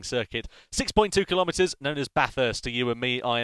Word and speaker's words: Bathurst: But yeah, make sure you pronounce it as Bathurst.